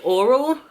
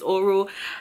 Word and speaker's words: Orro: the name of the drink is oral hope i pronouncing that right it's oro and it is a